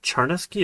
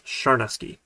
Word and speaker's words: Charnesky: And to my wife's chagrin, the way that you pronounce the CH in the original language in Ukrainian was actually a soft CH, like sh instead of ch. So it's not Charnesky, it's Sharnesky.